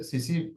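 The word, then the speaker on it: tsetse: इसको T silent रहेगा यहाँ पे, सीसी फ्लाई कहते हैं।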